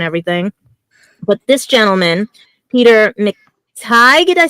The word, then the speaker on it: McTighe: But this gentleman, Peter McTighe, did I say it right? Teague, I think. Is it? No, Peter McTighe. Matai?